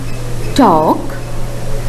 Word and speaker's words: talk: words after me again talk talk walk for in these words the letter L is silent let's read the following